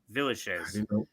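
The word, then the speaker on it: Villechaize: how it's pronounced. I looked it up and I found out. Villachez.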